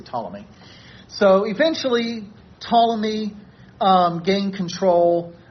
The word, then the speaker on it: Ptolemy: The Greeks probably pronounce the initial P, but we don't do that in English. We don't say Ptolemy, we just say Ptolemy.